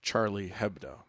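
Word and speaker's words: Charlie Hebdo: Charlie ABDO is that I think it's pronounced Charlie hebo oh thanks Dan quit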